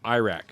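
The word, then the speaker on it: arakh: a IRA a r a k h it's pronounced Iraq Ira Iraq it's yeah is that a spider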